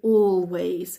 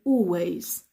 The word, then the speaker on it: always: always you will hear I never pronounce the L we don't say always we say always always all always is